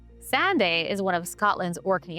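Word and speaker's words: Sanday: It started with a kid sprinting along a windswept beach on Sande. No, not Sunday. I did say it wrong. Sande is one of Scotland's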